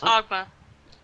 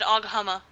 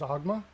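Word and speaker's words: Oghma: something oh it's just augma did I I said it wrong didn't I you said agama well there's an age so it's agma okay I missed that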